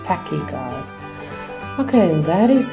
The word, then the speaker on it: Pachy: more correctly all right and not patchy but it's Packy guys okay and that